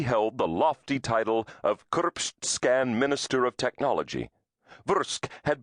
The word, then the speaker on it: Kursp: Kursp, pronounced Kursp, was the capital of the Republic of Kurspan,